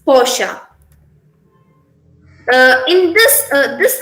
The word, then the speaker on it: Porsche: is this is uh we pronounce it as posh but here the characterisation is porsche it's not posh it's porsche uh in this uh